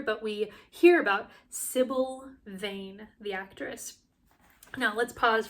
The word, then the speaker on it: Vane: taken in two ways it's spelled v n e like a Weather Vein but of course it sounds like vein as in vanity as well I think we're meant